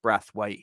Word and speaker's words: Braithwaite: It is spelt Braithwaite, I know, but it's actually pronounced Braithwaite.